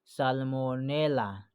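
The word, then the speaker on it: Salmonella: तो 29 का जो ऑप्शन होगा ना वो भी होगा ए नंबर, सालोमोनेला, ठीक है। इसको बोलते हैं साल्मोनेला बोलते हैं इसको, ठीक है, हिज्जे करके पढ़िएगा, ठीक है।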